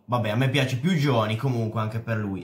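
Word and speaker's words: Jony: anche per Johnny, che qualcuno mi ha detto che si pronuncia Oni. Vabbè, a me piace più Johnny, comunque anche per lui è fatta.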